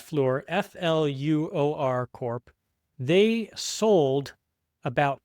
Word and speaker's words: Fluor: The news here was that this company that owns 10% of NewScale, Fluor, I think it's pronounced Fluor, F-L-U-O-R Corp., they sold about $200 million worth of stock recently.